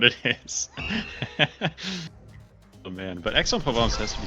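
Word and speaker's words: Aix-en-Provence: But for whatever reason, when it's just AIX, it's pronounced X.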